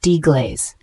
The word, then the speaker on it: deglaze: g l a z e is a verb pronounced deaz it means to remove and dissolve the browned